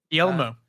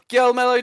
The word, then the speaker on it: Guillermo: Guillermo.